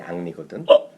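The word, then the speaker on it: Henri: 걔 영어 이름이 앙리거든. 진짜? 헨리라고 쓰는데 읽을 때 걔는 앙리죠.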